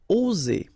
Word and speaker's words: oser: Okay, it's interesting here because you've got only one S between two vowels, and normally the pronunciation you will get when you've got only one S, it's Z, okay? Oser, all right? If you would have deux S instead, you will pronounce it ose, okay? But in that case, you've got only one S, and that's the rule. One S between two vowels will produce the sound Z, oser, okay?